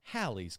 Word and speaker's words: Halley: And I got a book that year for my birthday about the comet, and it said it's pronounced Halley's Comet.